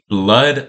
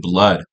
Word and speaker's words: bleood: So, uh, bro, today we gota react to a few, uh, blood. I think that's how we pronounce it. I know like it's written ble, but I think we pronounce it blood.